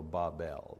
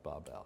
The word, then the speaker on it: Babel: it you know and the phonetics say the pronunciation should be b a w b l so Babel Babel makes no difference we